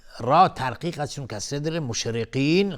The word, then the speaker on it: مشرقين: مشرقین، قاف از حروف استعلاست غلیظ تلفظ میشه.